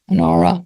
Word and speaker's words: Anora: yeah, I got to see Anora, which rhymes with my name. Anora.